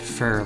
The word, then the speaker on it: Pho: It's like pronouncing it fur, like fur or fur.